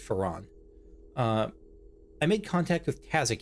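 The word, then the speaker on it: Feron: Glyph pronounced it Farron, but she pronounced it Ferran.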